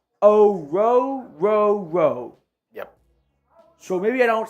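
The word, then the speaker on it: Orhorhoro: I'm telling you all, I could have it wrong, but the pronunciation guide I see for Rook is quite literally Rook O-Ro-Ro-Ro.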